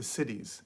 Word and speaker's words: siddhi: they talk about the siddhis. And the siddhis, which is, I think it's spelled S-I-D-I, that spelling could be slightly wrong, but the word is siddhi.